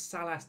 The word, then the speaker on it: Salas: pitch sailors as well salas i can always say his name wrong it's sallas not saying this much here